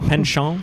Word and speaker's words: penchant: But knowing Jeff and just his penchant, is that penchant? Penchant. Anyway, penchant. It's just penchant. Penchant, We've anglicized that by now. All the last letters are silent.